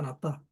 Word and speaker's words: 낫다: 받는 것이 주는 것보다 낫다. 나보다 남을 사랑하는 것이 더 낫게 여겨라. 이거죠. 예. 이때 낫다는 발음이 중요합니다. 낫다. 액센트가 중요하죠. 받침입니다. 받침. 지읒 받침 아닙니다. 시읒 받침입니다.